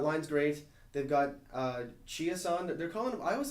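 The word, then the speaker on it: Chiasson: was 100 that Line's great they've got uh chias on they're calling them I always thought it was Chase someone but apparently it's actually pronounced chia-san Alex chiason he's really fitting in well and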